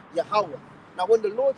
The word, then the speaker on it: Yahweh: It is Yahweh.